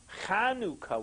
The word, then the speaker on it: Chanukah: Janica but it is the proper way to pronouncing is Chanukah with a guttural so you can have